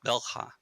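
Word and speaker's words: Bel'khah: So there's two syllables, bell, with an apostrophe at the end. So it's sort of bell. It's got that bell, which I can't pronounce properly, of course. Mm-hmm. And then ha, which is the second syllable. It's pretty normal. So bel ha.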